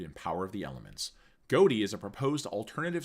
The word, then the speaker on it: Ghoti: It is derived from the gh in tough pronounced as a f sound, the o in women pronounced as an i and the ti in nation pronounced as a sh sound.